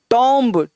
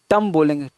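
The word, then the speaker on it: tomb: टॉम्ब, टॉम्ब मतलब मकबरा, टम बोलेंगे, टम, टॉम्ब नहीं टम, टम।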